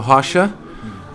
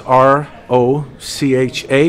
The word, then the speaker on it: Rocha: My name is Rocha. It spells R-O-C-H-A, but it's pronounced Rocha, and like Russia with an H, Rocha.